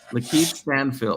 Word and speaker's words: Lakeith Stanfield: You would cast, and how do you pronounce his name? Is it Lakeith Stanfield. Lakeith Stanfield.